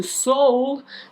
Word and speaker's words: Seoul: the comments and now let us go to seoul that is how you pronounce that city's name as i have googled it to make sure and to south korea